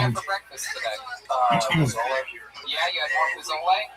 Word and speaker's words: pozole: Now, if you look up chicken, I believe it's Pozole, and it's pronounced pozole for all you fucking gringos out there.